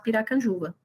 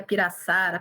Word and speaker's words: Piracanjuba: as pessoas a falarem como pronunciar Piracanjuba saí a piraçuara Pirajussara Pirajuba saiu o que você conseguir imaginar sair nós ainda éramos pequenos